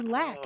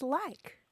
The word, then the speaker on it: like: how much do you lack how much more do you have to go la K lack LA but it's pronounced in the South and South Midlands often as lack oh yeah so it's